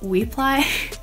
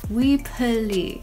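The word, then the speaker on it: Weply: I recently found out that we apply isn't pronounced we apply it's actually pronounced we pulley and I was like that doesn't sound right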